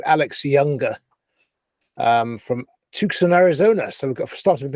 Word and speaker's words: Tucson: So this is, it's actually Tucson, just by the way. Oh, yes, you pronounce it Tucson, because I've heard people say Tucson, but the C is silent.